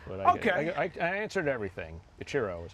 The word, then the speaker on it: Ichiro: You could also say Ichiro, but that's what my mom says. But Okay. I answered everything. Ichiro is how I pronounce it.